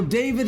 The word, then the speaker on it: D4VD: So David is a singer. He's a 20-year-old singer, to be more precise. His name is spelled D4VD.